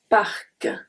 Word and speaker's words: parc: The next one is when the C at the end is pronounced. We have un parc, un parc, parc, k, k, okay?